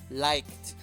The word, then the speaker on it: liked: Solamente le añadí la D, liked, liked. El sonido es de K, por lo tanto se pronuncia como T.